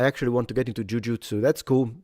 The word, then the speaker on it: jujutsu: I love jujutsu or jujitsu. Believe it or not, they're both correct pronunciation in Japanese, but no one in Japan says jujutsu. I can say that because I lived in Japan. No one. They say jujutsu in Japan. So that or jujutsu like the pitch is a different matter.